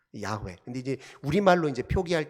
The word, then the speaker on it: 야훼: 원래 정확한 발음으로 하자면 야훼라고 발음을 해야 됩니다. 야훼.